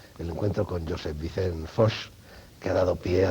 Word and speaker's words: Foix: ¿Foix o Foix? Yo no... ¿La pronunciación correcta? Sí. Foix. Foix. Sí. Era... Esto se llama ultracorrección, sí, ¿no, señor filólogo? Sí. Y mala conciencia de no saber bien el catalán.